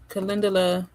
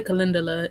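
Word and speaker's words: calendula: I say Kindala. Actually, Kindulla probably will be a little bit more on brand for the way it is spelled, but I say Kindulla.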